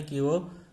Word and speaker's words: कवि: लेकिन उच्चारण करते समय बहुत लोगों के द्वारा देखा जाता है कि वो कवि उच्चारण ना करके वो कवि कहता है। यानी जब उच्चारण करता है तो वा में दीर्घ ध्वनि सुनाई देती है, ई।